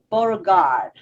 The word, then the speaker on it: Beauregard: And today I want to introduce Beauregard. Is that how you say it? Yes. It's like French completely.